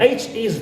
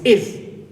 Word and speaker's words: his: right here pronoun his the H is dropped omited and pronounce it is not his it's is so hi his exam